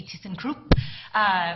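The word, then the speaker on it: thyssenkrupp: mechanical design engineer at thyssen krupp elevator thyssen krupp is a global company if you want to pronounce it the way my german ownership does it would be teasing crew which I hear on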